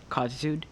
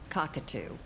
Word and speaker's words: cockatoo: Cockitude, is that how you pronounce it? Cockatoo.